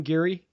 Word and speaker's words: Geary: I am thrilled to be joined by Kevin Geary and is that how you pronounce it Kevin Geary yep that's right got it I thought so